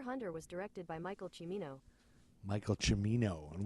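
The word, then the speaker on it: Cimino: was directed by Michael chimino Michael chimino and we both said Simo and you were like who cares but it's chimino the only reason I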